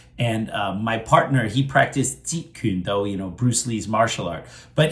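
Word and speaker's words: 截拳道: how to properly pronounce Jeet Kune Do? So just pronounce Jeet. Jeet is the sixth tone. Jeet Kune is like the fifth.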